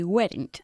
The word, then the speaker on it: weren't: No, they weren't. Okay, Annie, you need to say weren't. Weren't. Not weren't. Okay, Okay. weren't. Weren't. They were, they weren't. No Oh. cambia, ¿vale? Es una sola sílaba.